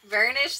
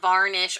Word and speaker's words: burnish: to be on myself burnish this down not varnish or vernish whatever I've been saying I've I say I